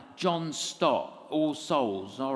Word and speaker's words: Stott: And I didn't know how to pronounce Stott. And I thought it was like Stoat. You mean Dr. Stott?